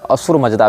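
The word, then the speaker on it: Ahura Mazda: अब ये स को ह पढ़ते हैं फारसी, सकार का उच्चारण हकार के रूप में करते हैं, इसीलिए अहूरा को आप असुर भी कह सकते हैं, असुर मजदा भी कह सकते हैं।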